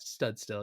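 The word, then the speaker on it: Studstill: be run by Shannon how do you say her last name stud tail still chance stud still yep and there's a lot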